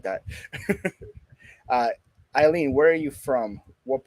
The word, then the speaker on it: Aylin: here with aylin eileen i wow way off eileen that's an interesting name to spell that i usually see it with like an